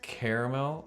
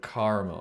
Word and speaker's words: caramel: Well, to me, the C isn't the C is not the thing. It's caramel or caramel. I guess it's the A that really is different. Oh, the extra syllable.